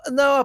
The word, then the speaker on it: há: Because people want to say ha instead of Yeah, not just the H is silent at the beginning of any word with an H. It's a silent letter.